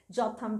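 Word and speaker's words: Jotham: Wali some some where I pronounce it wrong जनाथ valley it's नॉट जनाथ इट्स जोथन valley this was वन ऑफ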